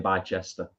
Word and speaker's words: Bicester: Yeah, it's pronounced Bicester. A lot of people don't know that.